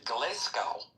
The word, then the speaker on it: Glasgow: he said it's and he said he's from Gllescow and he said that they say it Gllescow.